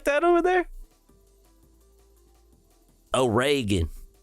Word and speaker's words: Oregon: do they say it like that over there oan it's oan it's like it's like Reagan if